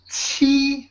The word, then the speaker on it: 七: So when you pronounce this T sound, actually the tip of your tongue will the surface of the tip of your tongue will touch the front of your palate.